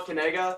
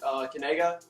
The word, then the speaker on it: Knigga: It's Knigga. You say it Knigga. Knigga. Like that.